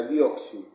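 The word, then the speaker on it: δίωξις: O sea, con respecto a lo que es la persecución, la definición de persecución nace de una palabra griega que se pronuncia de esta manera, dioxi.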